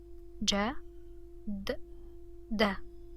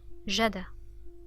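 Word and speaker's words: جدّة: Let's imagine there was no shadda. It was only fatha. So we would pronounce dal 1 time. So it would be jada, jada, jada. Okay? But with shadda, it's jadda, jadda. Notice the stress on the dal.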